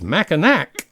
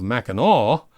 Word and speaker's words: Mackinac: By the way, we were advised that if we pronounce Mackinac as Mackinac instead of Mackinac, natives will call us fudgies, just tourists who